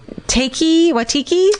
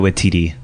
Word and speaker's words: Waititi: And is it Watiki? I don't know how to pronounce that guy's name. I panic when I see it on the page. Taika Waititi.